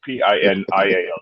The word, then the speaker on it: pineal: because it ignites the pineal gland. I won't go there, but I'm just. You say PINIAL, is that right? Pineal gland? Pineal gland. Yes, PINIAL, just so we be sure about the pronunciation there.